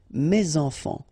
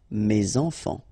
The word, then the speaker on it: mes enfants: And then ending with S, enfant, children is starting with a vowel. So you should make the liaison, mes enfants. Mes enfants.